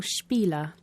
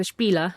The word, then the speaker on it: spiel: a good one spiel it's not an english word is it the sh sound at the beginning with the spelling sp it's not really common in english words is it well like many